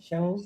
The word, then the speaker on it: Xiangyu: Yeah, it was very interesting to listen to Xiang Yu, how do you pronounce his name? Shangu.